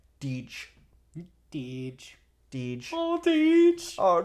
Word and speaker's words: Deej: Because it's D with a hard J. Deej.